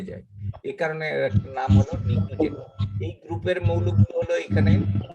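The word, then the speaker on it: pnictogen: পিকটুজেন। নিকটোজেন। উচ্চারণটা পি বাদ দিয়ে করতে হবে। এটার নাম হলো নিকটোজেন।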